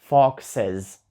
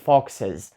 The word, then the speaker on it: foxes: Також потрібно і S foxes тобто багато лисиць це вже foxes і тут дуже чітко чути що в кінці з а не с foxes ще одне слово до